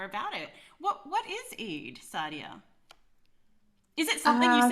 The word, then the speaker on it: Eid: um yesterday was am i saying it right eid yeah yeah yeah yesterday was eid but no